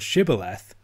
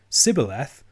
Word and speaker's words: Shibboleth: all tested at the Fords if they could pronounce the word Shibboleth they could cross but if they used a characteristic ephraim might miss pronunciation Sybil F they were killed the Ephraim eyes despite seeing